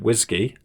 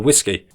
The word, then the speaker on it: WSGI: Flask implements the web server gateway interface standard, WSGI, often pronounced whiskey or whiskey.